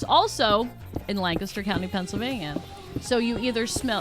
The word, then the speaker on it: Lancaster: By the way, take note how she pronounced that city name, everybody. Lancaster. That's right. That's how we say it in Pennsylvania, not Lancaster. Not Lancaster, which is the California is Lancaster, I think.